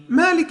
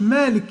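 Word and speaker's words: مَالِكِ: تخلي بالك بقى منها، ما تقولش مالك يوم الدين. مالك ما تسكنش الكاف، لازم كي، الكاف مكسورة كي، وبعد منها ياء مفتوحة يا. مالك يوم الدين. مالك يوم الدين. وطبعا تخلي بالك الدي ما تقولش التي دي تاء، مالك، ولكن هي دال. خلي بالك دي دال.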